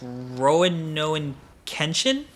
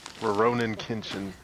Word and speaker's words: Rurouni Kenshin: I don't want to pronounce this wrong. It's Roanoan Kenshin. I think it's Rurouni Kenshin.